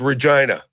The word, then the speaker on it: Regina: there we went to the city that R rhymes with fun good old Regina and then from Regina